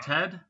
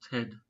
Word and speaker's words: Tad: Do you know Tad? Yes. Yeah. I know it with him with a different pronunciation, yes. I thought it was Tad, not Ted.